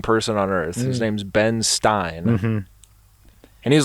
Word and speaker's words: Ben Stein: on earth his name's ben stein and he's like marnery rhymes with einstein so i'm also smart